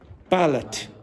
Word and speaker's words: ballot: Ballot. And the pronunciation is ballot. Not ballot. Ballot.